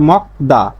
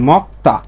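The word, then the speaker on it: 먹다: মক্তা মানে খাওয়া, সাধারণভাবে এর উচ্চারণ হচ্ছে মকদা, কিন্তু দেখেন ক ধ্বনির একটা বর্ণ পাইছি গিয়ক, তারপরে এই পাঁচটা বর্ণের যে কোনো একটা পাইছি দ্বিগুত, তাহলে এই দ্বিগুতের উচ্চারণটা হবে কি? সাংদ্বিগুতের উচ্চারণ হবে। এখানে দ্বিগুতের দ উচ্চারণ না হয়ে হবে সাংদ্বিগুতের ত, সাংদ্বিগুতের ত, সাংদ্বিগুতের উচ্চারণ কি? ত। তাহলে এর উচ্চারণটা হবে কি? মক্তা।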